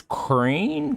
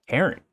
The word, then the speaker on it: Cairn: Next game was Crane. How are we pronouncing this one? Cairn. Karen. Jesus Christ, I was way off.